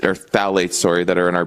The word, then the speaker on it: phthalates: The first half is the fact that the nonstick Teflon, the unfiltered water, the uh phthalates or phthalates, sorry, that are in our beauty products.